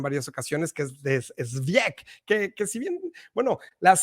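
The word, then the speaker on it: Żywiec: por ejemplo, de Zwiek, ya no me acuerdo bien cómo se pronuncia, Zwiek, me enseñaron mis amigos polacos, pero obviamente no soy muy proeficiente en el polaco.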